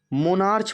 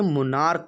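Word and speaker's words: monarch: मोनार्च पढ़ते बच्चे, मोनार्च नहीं होता, ये मोनार्क होता है, इसे क पढ़ेंगे।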